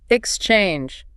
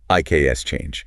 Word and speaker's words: exchange: For this word, the stress lands heavily on the second syllable. Exchange. Short pause. Exchange. Exactly. You do not want to say IKS change. It is exchange.